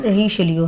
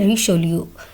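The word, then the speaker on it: Richelieu: इसकी जो British pronunciation है कार्डिनल रिशेलियो है, रिशेलियो।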